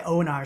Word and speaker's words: Onar: but I go by Onar. So if you take the L, the E, and the D out of Leonard, you get Onar.